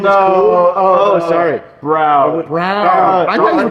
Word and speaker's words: Braun: Brown.